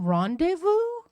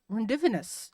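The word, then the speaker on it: rendezvous: correctly uh tells you, you mean rendevu? Yeah. Uh I I don't know. How do you spell it? because you'll have uh been pronouncing rendevous as rendevenous your entire life.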